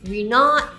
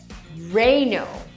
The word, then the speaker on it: Renault: This is probably one of the most commonly mispronounced car brands out there. I've heard Ree-not, Reh-nol, Rey-naul and so many more. But the correct pronunciation is actually really simple! It's Re-no!